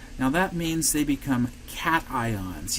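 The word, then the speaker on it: cation: that means they become cat ions yes that word is pronounced cat ion no I don't want to hear you saying cashion it's a cat Okay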